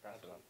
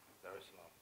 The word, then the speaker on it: Dar es Salaam: of the 7th, to come straight to Tanzania, Dar es Salaam. Did I pronounce that right? Yeah. Dar es Salaam. Okay, cool. Dar es Salaam.